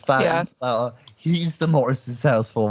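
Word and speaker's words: Faist: Do we know how to say his name? Feist. Is it Feist? I think it's Mhm. Feist. Okay, he's Feist.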